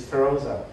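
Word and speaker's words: Pheroza: I still when I phone, and somebody asked me the name, my wife's name is Feroza, and I spell it P-H-E-R-O-Z-A.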